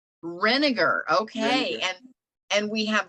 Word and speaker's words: Renegar: your last name how do you say that rinegar renegar okay and and we have Valeria on as